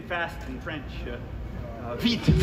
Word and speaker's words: vite: Vite. Vite, with a T. That's when you do pronounce.